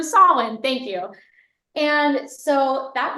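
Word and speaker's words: Samhain: know that holid go I want to say sam Hayne wrong wrong so soln thank you and so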